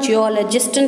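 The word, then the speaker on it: geologist: அப்போ அவங்கள நம்ம என்ன சொல்லலாம், ஜியாலஜிஸ்ட்னு சொல்லலாம். ஜியோ நான் எப்படி ப்ரொனவுன்ஸ் பண்ணுறேன்னு பாருங்கள், ஜியோலஜிஸ்ட். நான் ஜூ சொல்லலை, ஜியாலஜியும் ஜியாலஜியும் ஒரே மாதிரி தான் இருக்கும், ஆனால் டிஃப்ரெண்ட் வே ஆஃப் ப்ரொனவுன்சியேஷன் சரிங்களா. ஜியோலஜிஸ்ட் ஜியோ ஓகேயா.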